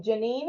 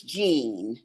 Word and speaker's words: Jean: marel what about um Janine am I pronouncing your name correctly Jean is Jean there Jean I'm sorry uh here I am now pronouncing your name correctly Jean it's it's Jean Jean okay yes um I'm